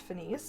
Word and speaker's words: Finis: And another popular Monofin, we have the Finis Luna, and for anybody wondering, it is actually pronounced Finis.